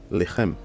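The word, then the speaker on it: לחם: Et là, vous voyez que le Sheva, il est en début du mot, donc il se prononce Lechem.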